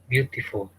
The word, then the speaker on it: beautiful: Beautiful. Oh. Can you see there are three parts? B, T full. Yes. So it is 3 syllables word.